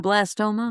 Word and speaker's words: glioblastoma: glioblastoma Thank you.